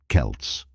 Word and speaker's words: Celts: pronounce these terms Celts historically and academically it's often pronounced with a hard C Sound Celts Celtic when referring to